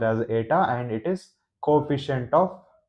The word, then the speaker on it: eta: It is pronounced as ATA.